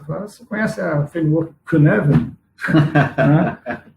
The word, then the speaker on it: Cynefin: E aí, na verdade, se escreve C-Y-N-E-F-I-N. Então, assim, parece Cynefin, mas na verdade se fala Cynefin.